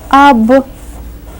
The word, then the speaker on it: объект: Объект. The hard sign is right here, and it serves as a word divider. It tells us to pronounce the first part separately and then say the second part separately.